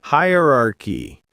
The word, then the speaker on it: hierarchy: Hierarchy. That's higher r key and pronunciation.